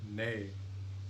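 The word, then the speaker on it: nei: Note that many Icelandic speakers, especially women, although men too, may pronounce the words for yes, yao, and no nay with an inhalation.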